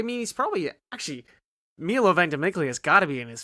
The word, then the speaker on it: Ventimiglia: Lindsay in it I just thought you didn't pronounce it no yeah it's Ventimiglia but okay the second question if you could